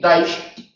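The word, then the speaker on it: Daesh: es la daes sin embargo daish habría que pronunciarlo así daish es un monosílabo porque aquí tenemos un dictongo decreciente daish y al ser un monosílabo no tiene que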